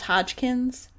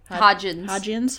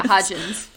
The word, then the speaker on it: Hodgins: I don't really remember, but it was Hodgkins. Hodgins. Yeah, Hodgins. Hodgkins is a character from something else.